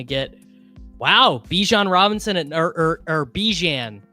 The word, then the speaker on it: Bijan: And I guess we're just gonna get wow, Bijan Robinson or Bijan. He said his name is pronounced differently. It's not Bijan. It's Bijan. Wow.